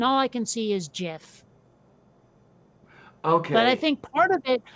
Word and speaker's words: GIF: and go, oh yeah, that's GIF. No, it's not. It's GIF, and the creator of the format said so.